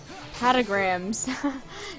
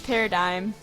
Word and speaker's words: Paradigm: Patagrams. No, it's Paradigm.